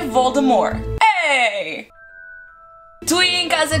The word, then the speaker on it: Voldemort: Vocês sabiam que nós estamos todos a dizer Voldemort da maneira errada? Yeah, eu não sabia. Mas aparentemente, a última letra de Voldemort, T, ela não se lê.